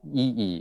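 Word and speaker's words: Yi Yi: won't know but he directed a movie called ee it's spelled y-i-y-i okay and i had never heard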